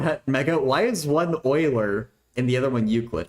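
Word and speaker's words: Euler: but like it's still annoying that it's it's Oiler it's not Oiler and oid or eer and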